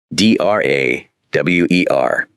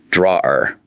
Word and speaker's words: drawer: D r a w e r. This word looks strange. Drawer. Yes, the pronunciation is a little tricky. It sounds more like one sound.